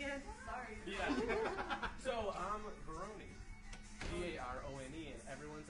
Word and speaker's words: Verone: So I'm Verone. V-A-R-O-N-E. And everyone's like, no, it's Verone. I'm like, no, you do the E at the end.